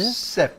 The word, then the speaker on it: SAP: 영어로 뭐 셉이라고 읽는데. 셉.